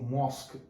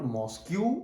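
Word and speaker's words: mosque: Next example, he goes to मॉस्क, इट इज नॉट मॉस्क्यू, इट इज मॉस्क, the pronunciation is मॉस्क। इसका मतलब मस्जिद, temple मतलब मंदिर, और चर्च मीन्स गिरजाघर, वो सब जान रहे हैं हम। सो इट इज मॉस्क नॉट मॉस्क्यू।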